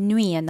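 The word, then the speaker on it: nuit: So first word வந்து இரவு, இரவை வந்து நைட்டை நீங்கள் நுயன் தான் சொல்லணும், அந்த தீயை வந்து ப்ரொனவுன்ஸ் பண்ணுறதில்ல, ஸோ நுய்.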